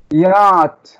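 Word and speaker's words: yacht: يات يات. لا السي اتش مش هتتنطق. يات يات. السي اتش هحط تحتيها نقطتين عشان دول مش هيتنطقوا.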